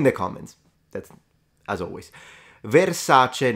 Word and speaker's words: Versace: Versace, not Versace. That's correct. Versace.